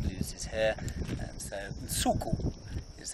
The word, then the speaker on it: Nsuku: And so Nsuku is how we say it, and that's the Xitsonga word, and it's spelt.